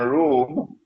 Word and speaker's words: Rum: It is pronounced as R-O-O-M, Rum, but the Arabic word Rum is, it describes Eastern Christianity.